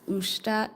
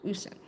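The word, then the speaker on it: уста: Usta. Usta is pronounced sh. Osta. Oh, okay. Usta. Usta. Usta. Hopefully that's right. Usta. Usne. Not sh.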